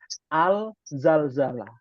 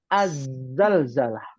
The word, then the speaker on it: az-zalzalah: Kalau terjemahan mushaf itu pakai al-zalzalah. Ya, tulisan Indonesianya. Maka ini tidak tepat. Oh, Ya. Jadi yang betul huruf syamsiah, az-zalzalah. Ya. Dibacanya ada tasdidnya. Az-zalzalah. Az-zal Az-zalzalah. Hati-hati bacanya ya. Ya Ustaz. Az-zalzalah. Bukan al-zalzalah, bukan.